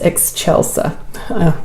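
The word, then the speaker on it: Excelsa: really pretty so this one is a Rosa ex Chelsa even though it's spelled ex ex c e l s a it's pronounced ex Chelsa whatever um it's pretty and I'm going to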